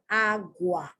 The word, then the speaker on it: agua: The U is not agua. The U is not pronounced U, it's pronounced wa. Agua, Guatemala, guayaba, guava, guardar, and guapo.